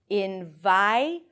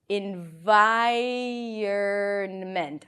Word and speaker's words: environment: But in fact, what happens is that the vowel is actually pronounced before the R. Listen again. Environment. Environment.